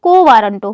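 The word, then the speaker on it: quo warranto: को बोला जाता है को वारंटो क्या कहते हैं स्पेलिंग याद रखिएगा स्पेलिंग थोड़ा अजीब है ना क्यू यू ओ उसके बाद वारंटो ठीक है वारंटो तो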